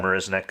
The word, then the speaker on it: Marisnick: Marisnick is how you say his name.